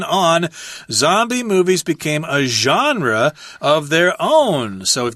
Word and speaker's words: genre: comedy which is interesting genre is a French word that's why it's pronounced so weird sorry about that genre it just means a